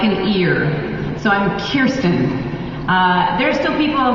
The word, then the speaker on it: Kirsten: look at it you want to say Kirsten it's like a cure one of my favorite